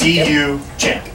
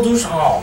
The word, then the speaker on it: Duchamp: But well, how do you spell that then? How do you spell his name? Duchamp? Yeah. Duchamp. Duchamp. D-U Champ.